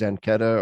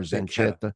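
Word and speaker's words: Zanchetta: I think his name is pronounced Zenketa or Zenketa.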